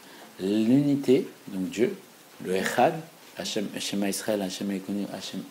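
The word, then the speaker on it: השם: Si je vois dans un miroir, c'est Eshin Mem. Comment ça se prononce? Hachem. Hachem.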